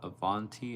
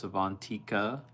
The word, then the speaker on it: Avantika: It's not Avanti, it's Avantika. Avantika.